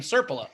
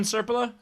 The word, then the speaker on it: Serpila: It's SRP Serpilha? SRPILA. No. Serpila. Serpila. Mm-hmm. Yeah, it's a common European name, Serpila. Uh-huh. Yeah. Uh-huh. You don't know Kevin Serpila?